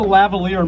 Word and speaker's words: lavalier: This is a lavalier mic.